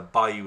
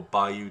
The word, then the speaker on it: bayou: Or it's either pronounced bayou or bayou, depending who's saying it. Or bayou as well, sometimes with the accent on the second syllable.